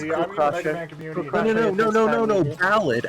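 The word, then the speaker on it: Ballade: no no no no ballad as in a music ballad yes I'm aware tell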